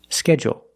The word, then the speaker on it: schedule: the word a jewel schedule one is longer schedule and it has an extra sound it's not like pool and cool it's schedule oh oh oh there's an extra vowel there or you can make